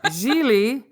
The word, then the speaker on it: Gigli: the background Lisa sure jeie rhymes with really as we learned in